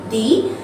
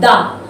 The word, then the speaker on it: the: we say it d sometimes we say it da but why we can change our saying listen why i will use the that time it means i am using it before any vowel sound only before the vowel sound we use the sorry d and before any consonant